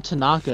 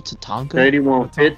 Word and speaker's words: Tatanka: damn just skip a CS we call him Tanaka is his name Tatanka yeah I said it wrong I'm gonna add